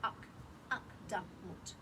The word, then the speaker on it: Akdamut: That's a beautiful poem called Akdamut, 3 syllables. Okay.